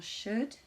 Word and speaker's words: should: Attention, ne pas prononcer le L dans should, would et could.